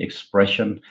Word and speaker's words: ExpreS2ion: like this Express and we call our company expression it's because of the S2 cells which are well known